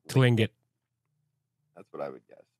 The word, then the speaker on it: Tlingit: I think first T's silent, so Tlingit.